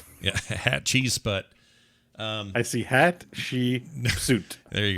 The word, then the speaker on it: Hatshepsut: So Hatshepsut or whatever you call her, how you say her name is in there. The Roman guy. Hatshepsut. Yeah, Hatshepsut.